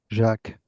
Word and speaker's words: Jacques: on the end, but how do you properly pronounce your name? Jacques, Okay. without the S. Okay. It's, it's more or less like in English.